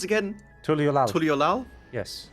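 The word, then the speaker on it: Tuliyollal: Oh, I think I'm standing around in Tuliolal. Ah. That's fine, I can teleport there for free. How is it pronounced again? Tuliolal. Tuliolal? Yes. Tuliolal.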